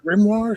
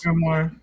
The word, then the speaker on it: grimoire: Grimmoire. Is that what it is? Grimmoire.